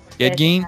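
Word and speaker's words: Ed Gein: Edge G or Gene however his name's pronounced. Ed. Edge Gene.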